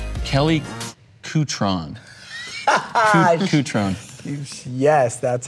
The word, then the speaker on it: Cutrone: Cutron.